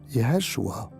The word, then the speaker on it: Yeshua: Era aquel hombre de Galilea llamado Yeshua, o si quieres pronunciarlo original, Yeshua.